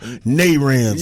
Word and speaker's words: Naranja: He say Naranja, but it's called Naranja. Yeah. That's how they pronounce it, Naranja.